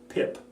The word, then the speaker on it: PIP: called within the industry pip pip rhymes with SIP rhymes with tip and that is a